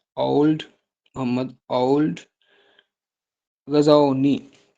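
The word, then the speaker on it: Ould: आप लिख लें मोहम्मद ओ यू एल डी ओल्ड Mohammad ओल्ड Ghazni जी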